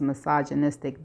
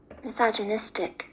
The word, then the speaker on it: misogynistic: I think I know this one is misogynistic now. Okay, this is how it's pronounced. Misogynistic.